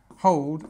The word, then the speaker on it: hold: she held the baby can you see how we've got slightly different pronunciations between hold and held hold is this one